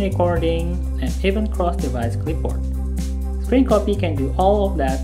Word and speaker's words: scrcpy: It's called scrcpy, or pronounced scrcpy.